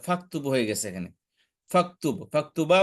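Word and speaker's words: فاكتبوا: এখানে অতিরিক্ত আলিফ আনছে আর এর আগে ফা থাকার কারণে এখানে আলিফটা উচ্চারণ হচ্ছে না ফাকতুবু হয়ে গেছে এখানে ফাকতুবু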